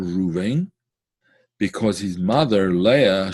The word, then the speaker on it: Reuven: The tribe of this month is the tribe of Reuven, or Reuben as it's pronounced in, I suppose, in English, right?